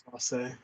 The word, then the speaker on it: Clase: Clase. Pronunciation guide in the MLB press release, CLAW-SAY. Woo. Yeah, Clase.